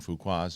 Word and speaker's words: Fuqua: There's a new trailer, Will Smith's Apple movie and Antoine Fuqua's new movie. That is Fuqua? That's how you say it.